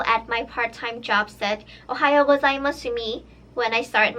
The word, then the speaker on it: おはようございます: how to say Ohio was ie mas yes ohayo gozaimasu it means good morning so Ohio was I'm